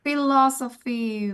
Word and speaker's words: philosophy: Philosophy, betul sekali. Jadi kalau P ketemu H dibacanya apa? F ya, dalam bahasa Inggris. Sophie. P ketemu H dibaca F dalam bahasa Inggris.